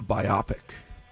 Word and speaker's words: biopic: Oh, a movie instead about of a biopic. A biopic. I thought it was a biopic. And someone corrected me, maybe in my 40s. In your 40s? Yeah, that's not how it's pronounced.